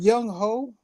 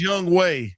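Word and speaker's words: Younghoe: Young hoe. That's his name. Young ho. No it's Young Way.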